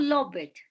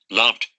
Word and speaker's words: loved: offered, It's not loved. The appropriate pronunciation is loved, loved, loved.